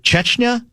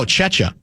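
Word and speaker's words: Czechia: Was it Chetchna? No. No. Chetcha. I think it's how it's pronounced, isn't it?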